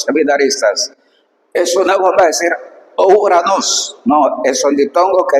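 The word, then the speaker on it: οὐρανός: Omicron e Y, entonces este siempre se pronuncia como una sola vocal, U. Esto es importantísimo. Nunca es correcto decir O. Vas a decir siempre U. Importante. Entonces, acá por ejemplo dice Uranos.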